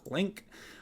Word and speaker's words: LINQ: should just see um is there a pronunciation to link link is what it it is okay we're going to pronounce it link from now on um